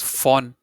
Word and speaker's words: von: Yeah, so Von this is phon. Phon. Okay. Like, you say phone, but say it like phon.